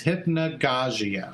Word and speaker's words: Hypnagogia: I had Google pronounce it for me. They said it's Hypnagogia.